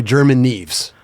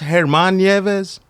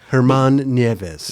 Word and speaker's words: German Nieves: I was like yo I don't care how you say my name it's pronounced hermanes Herman NZ yeah but most people call me they've been calling me German my whole life yeah that's how I